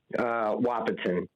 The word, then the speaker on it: Wahpeton: Chad in Wahpeton, North Dakota. Am I saying it right, Chad? Wahpeton, but it's close.